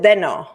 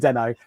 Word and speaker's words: Deno: So you pronounce it Deno, not Dino.